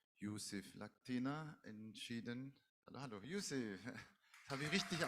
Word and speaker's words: Youssef: Hallo, hallo, Youssef. Das habe ich richtig ausgesprochen.